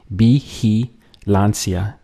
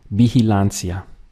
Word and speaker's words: vigilancia: Vigilancia. Notice here how the V, the combination of VI, is pronounced as like a B in Spanish.